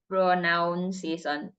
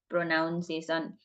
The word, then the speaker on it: pronunciation: probably I'm guessing he probably going to say pronunciation pronounciation most commonly mispronounced word pronunciation so let's see how